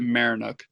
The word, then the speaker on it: Maryinuk: I pronounce it Marinuk.